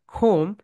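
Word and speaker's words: comb: এই কারণে আমরা দেখো এখানে খোম, খোম বলি, এই বিয়ের উচ্চারণটা এখানে হবে না।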